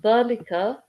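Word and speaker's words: ذلك: Okay, so dhalika, it's, let me fix this. Okay, it starts with this letter here, which is the. Okay, it's your dhal. Okay, okay, dhal.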